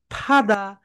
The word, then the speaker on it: father: সবাই বলো ফাদা, you have a call, ফাদা, ফাদা, you have a call. F যখন উচ্চারণ করবে তখন তোমরা উপরের দাঁতকে নিচের ঠোঁটের সঙ্গে টাচ করবে, বলো ফাদা, ফাদা, ইউ